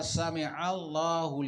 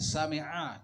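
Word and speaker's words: سمع الله: Kemudian ada orang sholat ketika membaca sami'allahu liman hamidah. Dia tahu bahwa dia membacanya itu tidak sami'a tapi sami'allah, pakai hamzah.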